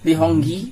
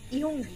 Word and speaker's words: Lee Hong-gi: Lihongi. How can I pronounce that? Ihongi.